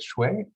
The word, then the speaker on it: Shui: you ms i'm sorry is it shui yes you pronounce it very well it's and you can